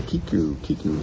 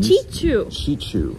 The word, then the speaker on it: QUQU: But that is the QQU. No, say it right. QQU. No, say it right. I don't know. We can't stop until you say it right. We can't. QQU. No. Okay, I don't know. Then Chichu. All right. Chichu.